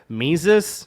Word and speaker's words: Mises: different pronunciations of mises i've heard mises which is the correct one according to the germans mises which tom de lorenzo says my sees uh or maybe tom